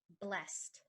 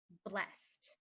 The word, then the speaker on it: blessed: it you could say he is blessed to have survived the blast from the explosion he is blessed to